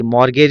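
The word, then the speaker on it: mortgage: जी ए जी ई मॉर्गेज इसको पढ़ा जाता है टी साइलेंट होता है यहां पर मॉर्गेज का मतलब वो होता है कोलटरल।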